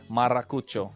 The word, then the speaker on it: Maracucho: It took some time, but hey, you're forgetting to roll the R, man. Hey, man, we warmed up to his... Maracucho.